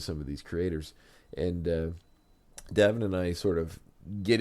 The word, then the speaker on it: Davan: So and early on in the show, I was calling him Davan forever until he corrected me and said it was Davan because it's like Gavin but Davan.